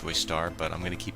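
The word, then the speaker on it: Joestar: Now, also we find out that the Joyster mansion, now I say Joyster, it's pronounced Joystar, but I'm going to keep pronouncing it Joyster because it's easier for me to pronounce.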